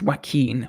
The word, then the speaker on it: Joaquin: yeah it's so crazy that it works it's pronounced Joaquin what did I say did I say yeah